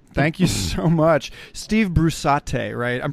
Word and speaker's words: Brusatte: right on Steve thank you so much Steve Bruce at a write I'm pronouncing that correctly yes Bruce Adi it doesn't matter I you know everybody pronounces